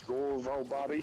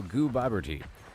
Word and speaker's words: Gooboberti: I made this song about Did you say your name was Gobby? No, no, it's goober. So, it's pronounced like goo as in goo. Bob as in Bob.